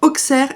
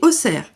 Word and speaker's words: Auxerre: C'est comme Auxerre et Auxerre. Les Bourguignons disent Auxerre, les autres disent Auxerre.